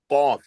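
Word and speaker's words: قاف: Qa, qaf.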